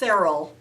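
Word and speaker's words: Saral: product out there called um i think it's pronounced serral s-a-r-a-l and what it is is a um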